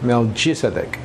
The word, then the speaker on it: Melquisedec: La palabra Melquisedec, bendecidos, en Hebreos se dice o se escribe Malkisedec. Melquisedec. En griego se dice Melquisedec. En hebreo, Melquisedec. En griego, Melchizedek.